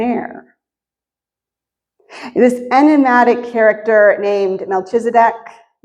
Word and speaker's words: Melchizedek: This enigmatic character named Melchizedek, it's pronounced a bunch of different ways. Melchizedek, the king of Salem.